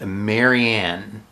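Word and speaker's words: Marienne: And this one's nickname is Marianne. So that's spelled M-A-R-I-E-N-N-E. Not Marianne, Marianne. Alright? But also not Marion, which would be spelled M-A-R-I-O-N.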